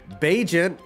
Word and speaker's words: Bagent: Bagent, which rhymes with agent, the undrafted rookie out